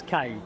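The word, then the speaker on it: Cannes: Is it Ken or K? because that's one of the great debates in in the entertainment industry. Well, in in French it's Kai. It is K.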